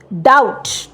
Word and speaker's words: doubt: পরেরটাই হচ্ছে ডাউট, DOUBT। বিটাও কিন্তু আমরা প্রোনাউন্স করি না, সুতরাং স্পেলিং কিন্তু DOUBT, যদিও প্রোনাউন্সিয়েশন ডাউট।